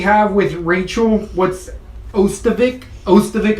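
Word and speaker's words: Ostovich: Ostovic, I believe it is pronounced.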